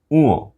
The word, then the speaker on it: ঙ: অনেকেই ঙ এই বর্ণটিকে ভুলভাবে উচ্চারণ করে বলে উম, উম নয়, ঙ, ঙ।